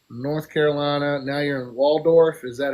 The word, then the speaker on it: Waldorf: Now you're in Waldorf. Is that how you pronounce that?